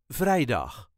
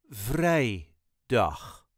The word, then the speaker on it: vrijdag: on Thursday donderdag then vrijdag slight emphasis on vrij Vrijdag vrijdag we gaan vrijdag